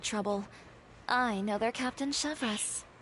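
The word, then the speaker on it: Chevreuse: I know they Captain chevas chevas oh so that's the pronunciation Chev oh you do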